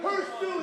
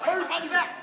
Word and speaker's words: Hurtssue: Hurtssue, there is no T. The T is silent. Watch this, Hurtssue.